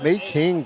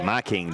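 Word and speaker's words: Mekhi: I believe that's pronounced My King Johnson. My King. Like Viking, but My King.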